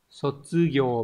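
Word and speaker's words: 卒業: Đọc là Sotsugyo và có trường âm.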